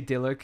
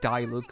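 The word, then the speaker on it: Diluc: of those as well i say dilik which kind of sounds like there's two l's in it but i've always said deluxe so that's how i do it i think a lot of people even say like die look or something like you can say his name in so many different ways cow hey you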